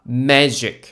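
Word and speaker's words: magic: 좀 지어보자면요 gd에 역시나 ei가 오면 g 발음이 즉라고 됩니다 어 첫 번째 단어요 MA MA gic 원래 같았으면 우리가 쓸 거예요 왜 g가 기윽 발음이 나니까요 근데요 g 발음이 나오니까 매직 매 매직 매직 뭡니까네 마술이요 매직 우리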